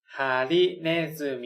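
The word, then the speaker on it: ねずみ: มิ อ่าน ออก เสียง ว่า ฮิน zumi ิ เนซึมิ นะ ครับ ฮาริ ก็ คือ เข็ม แบบ นี้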